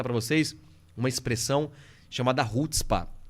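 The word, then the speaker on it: chutzpah: pegando aí produção rspa se escreve shuts Spa mas é hotspark é maravilhoso esse livro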